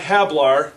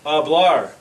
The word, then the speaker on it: hablar: So, to speak in Spanish is not hablar, but it's hablar. The H is silent.